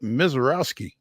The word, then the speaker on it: Misiorowski: And we are joined now by Nashville Sounds reliever Jacob Misiorowski. Hi, how are you guys? Jacob? I'm doing well. You said it right. I got it right.